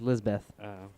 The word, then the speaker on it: Lisbeth: Like I want to say Elizabeth, but it's just Lisbeth. Does she grow up to be the girl with the dragon tattoo? Is that her name? I think so. Oh, maybe. How do you spell it? Lizbeth. No. Oh. Hers is L-I-S.